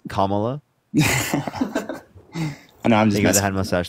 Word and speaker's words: Kamala: just said you're calling Jake now because I mispronounced Kamala it's Kamala I know I'm just must thank you well